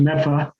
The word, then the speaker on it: Medford: On the Mystic Lakes in Medford, which is, as you all know, pronounced Medfa.